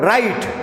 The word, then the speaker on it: write: In the word write, WRITE, W is silent.